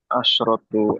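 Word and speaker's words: عشرة: Asyratu abwabin. Ya, asyratu abwabin. Betul. Kalau 10 bacanya asyra ya. Asyra atau asyratu. Kalau 11 asyara di fathah semua.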